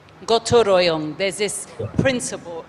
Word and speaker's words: gotong royong: we're going to establish is the state of Gotong Royong.